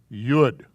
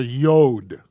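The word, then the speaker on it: יוד: teeny letter and it's called a yud or a yod some people call her the yod and i don't like yod i like yud but if you want to call it yod you're not wrong and it is a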